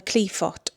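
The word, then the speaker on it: Qliphoth: working called the Cliffoth, or the Cliffoth is how it's supposed to be pronounced, but I say Cliffoth.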